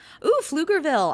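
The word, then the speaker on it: Pflugerville: Flugerville. I'm gonna go ahead and pronounce that one for Shannon because she might not it the P is silent.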